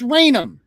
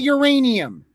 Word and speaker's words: Raynham: You would be able to pronounce Raynham. You could say Raynham and not uranium. That's what you said.